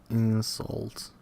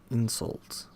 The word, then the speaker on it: insult: Stress goes on the first syllable of the noun as in in import. and convict and an insult. But on the second syllable of the corresponding verb to import, to convict, convict, convict, convict, convict to insult.